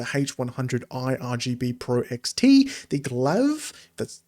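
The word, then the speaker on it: Glaive: Uh the added support for the HS80 wireless, the H100i RGB Pro XT, the Glav, that's how you say it, RGB Pro, and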